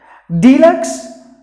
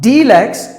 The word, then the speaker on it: deluxe: No, that's wrong. You have to pronounce it with deluxe, not deluxe. It's a long sound. Please don't use the needle sound. Use the kuril sound. Deluxe, deluxe. The letter E is silent.